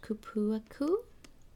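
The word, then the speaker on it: cupuaçu: It is pronounced kupuaku, kupuaku nut, and that's like cacao, and vanilla.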